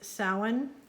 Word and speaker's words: Samhain: and then i see this is samhain i didn't know that that's how you're supposed to say it because it doesn't look like it's spelled that but i think it's samhain and this is my